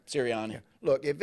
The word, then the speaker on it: Sirianni: Is that how you pronounce it? Sirianni.